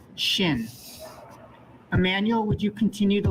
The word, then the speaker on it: shin: Take close note that the dot is on the right, and this makes the sh sound, shin.